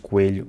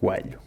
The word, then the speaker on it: coelho: Coimbra also gets a point because they say “coêlho” instead of “coâlho”.